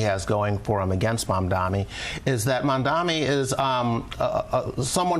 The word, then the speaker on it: Mamdani: Yeah, they keep doing the Cuomo Mandani thing. I feel like Mamdani is easier to say than Mandani.